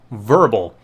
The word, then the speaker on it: Vurbl: ago that there's a service out there called Verbal. It's spelled VURBL, not sponsored by the way, where